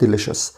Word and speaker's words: delicious: خلي بالك CIO بنطقها هنا شاه فبقول delicious.